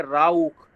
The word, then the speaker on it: Rauch: अब CH से पहले U आ गया, CH से पहले जब दोस्तों U आ गया तो ये कैसा साउंड देगा, खा साउंड देगा, खा। तो इसको कैसे प्रोनाउंस करेंगे, राउख, राउख, राउख।